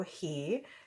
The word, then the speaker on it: Hea: my little brother Joe his name is Joe He. His last name is just like mine. It's spelled H-E-A, so that's Joehea, and his channel name is Rod and Arrow.